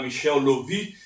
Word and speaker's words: Michael Löwy: De um grande ensaísta, professor Michel Lovy, se escreve Michael, né, mas se fala Michel Lovy, radicado na França, e seu companheiro Robert Serre.